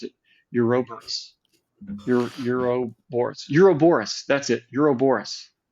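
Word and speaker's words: ouroboros: which I'm I just learned today how to pronounce it eurobus EUR Euro Boris Euro Boris that's it Euro Boris the Euro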